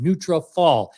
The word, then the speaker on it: Nutrafol: It's Nunutrafol, Nutrafol, as in follicles.